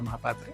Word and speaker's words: Mohapatra: I would be saying the exact pronunciation would be mahapatra but yes you are